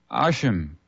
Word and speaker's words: Hashem: Instead of pronouncing Yahweh's name, the Jews often refer to him as the name, spelled ASHM, Hashem.